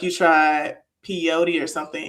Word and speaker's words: peyote: And then you threw up like you tried peyote or something. Is that how you say it? Is it pod? Pey. Yeah, peyote.